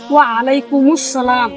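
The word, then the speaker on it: وعليكم السلام: আপনার উপর শান্তি বর্ষিত আপনি উত্তর নিলেন ওয়ালাইকুমুস সালাম আপনার উপর শান্তি বর্ষিত কিন্তু ভাইযে আপনি ভুল উত্তর নিলেন আলামের সঠিক উচ্চারণ হচ্ছে ভাই ওয়ালাইকুম সালাম এটা তো সঠিক তোর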